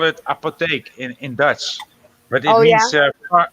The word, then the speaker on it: apotheek: We call it apotheek in Dutch, but it means pharmacy, right?